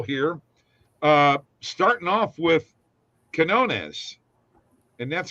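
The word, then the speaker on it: Quiñones: plays are available here uh starting off with Quinones and that's how you say his name it's not Queen known as it's Quinones under 22 and a half points uh uh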